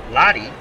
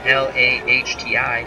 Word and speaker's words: Lahti: And a new pitcher for the 82 Cardinals, Jeff Lahti. I believe that's how you pronounce his name. L-A-H-T-I, Lahti.